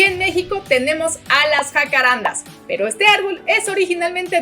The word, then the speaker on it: jacarandá: Y por otro lado, aquí en México tenemos a las jacarandas, pero este árbol es originalmente de Brasil y Paraguay y su nombre en portugués se pronuncia jacarandá.